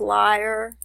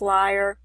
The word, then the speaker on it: lyre: Actually, I think it's pronounced lyre. Yeah, I just checked that and it is pronounced lyre.